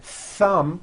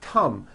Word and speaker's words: thumb: t or an S so instead of saying a word like thumb my thumb which this is and notice how my tongue is coming out my thumb you've been saying Thum my tum or my thumb and your tongue is not coming out that is not correct if you make mistakes